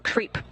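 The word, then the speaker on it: KREEP: a weird component that we call creep. And it's spelled K-R-E-E-P, and it stands for potassium, rare earth elements, and phosphor.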